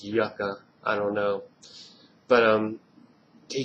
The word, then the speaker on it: Yucca: It just said on the movie it's pronounced Yucca.